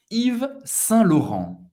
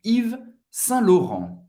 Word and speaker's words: Yves Saint Laurent: A-U tem o som do O. Laurent. E N tem o som do AN e não pronunciar o T no final. Vamos juntos. Yves Saint Laurent. Yves Saint Laurent.